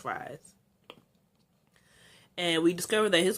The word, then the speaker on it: Fries: to um victor fries that's how his name is pronounced fries and we discovered that